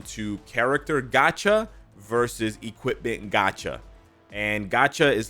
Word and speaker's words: gacha: It basically boils down to character gacha versus equipment gacha. And gacha is like, it's not spelled like gotcha, like G-O-T. It's spelled gacha like G-A-C-H-A.